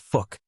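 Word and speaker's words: Phuc: Gray from Sai gone fuk tran fuk tran pronounced fuk was born in Vietnam and grew up in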